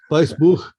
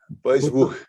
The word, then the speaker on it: Weissbuch: I don't, but I know enough that the W's are V's. Yeah, Weissbuch. Weissbuch.